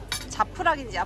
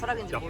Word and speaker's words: Japrak: 딱 보기에도 생소한 메뉴들;;; JAPRAK 자프락이라고 쓰고 야프락이라고 읽는 메뉴랑 CEVACICI GRILLED 스플리트에서 다 흘렸지만 맛있게 먹었던 샌드위치랑 같은 음식이에요!